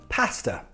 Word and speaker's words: pasta: For example, pasta. Pasta finishes in a schwa sound, but there's no R when you spell it.